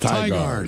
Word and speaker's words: Tigard: It's pronounced Tigard.